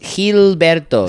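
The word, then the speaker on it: Gilberto: both heberto heberto Hil hilberto spell it j i l b r t o hill hill hilberto hilberto hilberto right yeah um but they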